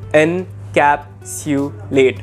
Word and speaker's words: encapsulate: or to conclude encapsulate it is pronounced as n capsu late encapsulate encapsulated in past tense